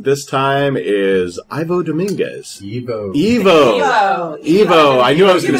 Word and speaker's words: Ivo: Evo.